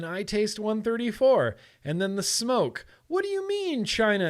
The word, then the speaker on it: SMOK: I feel like m.Terk, which once upon a time, smoke was called m.Terk. m.Terk. And that's why I know how to pronounce it smoke instead of smock, because they used to call themselves m.Terk.